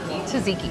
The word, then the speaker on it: Tzatziki: Tzatziki, yes, that's perfect, yes.